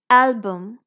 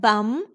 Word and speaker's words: album: item making sense good album we don't say album with a complete short u sound it's not bum It's Album so this U here is schwa if you want to